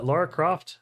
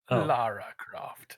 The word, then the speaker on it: Lara Croft: glad this exists uh Laura Croft legend or the Tomb Raider legend of Laura Croft Sam not not you two what it's Lara Lara Croft oh see that's how